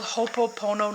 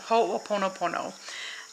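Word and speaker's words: Hoʻoponopono: believe it's Hawai and it's called hopo poono no no no hold on I'll look it up for you I never knew how to pronounce this but oh bear with me okay so this is it it's a whole oono Pono ho oono Pono um and so it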